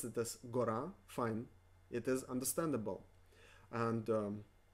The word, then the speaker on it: гора: Гора. Гора is mountain. Гора. Гора. Because the emphasis falls on a, we pronounce this гора.